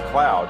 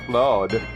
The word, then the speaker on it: Cloud: Cloud's name was Cloud. I know there was a lot of people that tried to get to say his name was Claude, but it was never Claude. It was always Cloud and his name was always Barrett.